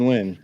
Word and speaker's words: Nguyen: Dustin Nguyen. Yeah. Nice. Like you pronounce like when. Yeah.